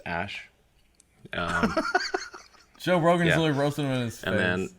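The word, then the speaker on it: Æ: name these children before you start a revolution pronounced ash Joe Rogan's Rosenman and then a 12 a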